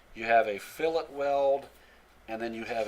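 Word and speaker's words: fillet: connection by the way that's fill it well that's the way you pronounce that you have a Filat weld and then you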